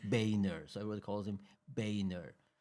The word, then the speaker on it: Boehner: And his surname actually should be pronounced Boner. It's of it's of it's of German origin, right?